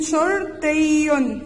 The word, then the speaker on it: شرطي: طيب اول كلمه معانا كلمه شرطي، ها فيها شده؟ اه يا مس، واضح ان انا نطقت الياء مرتين، لكن طبعا بتتكتب ايه؟ ياء واحده وعليها ايه؟ شد. برافو.